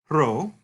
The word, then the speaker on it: rho: It looks like a P, but it in fact is pronounced like an R.